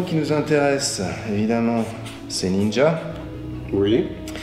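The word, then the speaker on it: 忍者: Le mot qui nous intéresse, évidemment, c'est ninja. Oui. Alors, nin, que tu peux voir ici, et sha ou ja, comme on le verrait prononcer.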